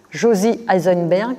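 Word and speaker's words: Josy Eisenberg: Josie Eisenberg, comme ça se prononce, et Armand Abécassis.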